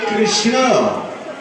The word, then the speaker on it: কৃষ্ণ: আমি গতবার আপনাদের বলেছিলাম, এই কৃষ্ণ কৃষ্ণ বলার সঙ্গে সঙ্গে জীবটা ভেতরের দিকে সংকোচিত হয়। দেখবেন আপনি উচ্চারণ করবেন, কৃষ্ণ বানানিতে দন্তন্য নেই, মূর্ধন্য আছে।